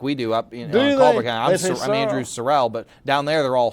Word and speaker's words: Sorrell: No, but folks in South Alabama pronounce the name Sorrel instead of Sorell like we do up. I'm Andrew Sorell, but down there they're all Sorrels.